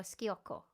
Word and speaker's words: sciocco: Is that sciocco or schiocco? Schiocco. S when there's an S in front of the C. CI is ch. When there's an S in front of it, it's sh.